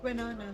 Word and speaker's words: Winona: Winona.